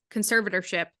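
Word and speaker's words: conservatorship: up especially in the I say this word wrong every time conservative ship that's the correct way to say it um every time she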